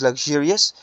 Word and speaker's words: luxurious: it is luxurious okay this XU it is pronounced a okay so it is luxurious uh that's what I mean luxurious restaurant and